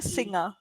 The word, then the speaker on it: singer: finger finger yes finger but here only one letter is changing F when it is changed to S now the pronunciation is also changing it changes to singer yeah yeah okay so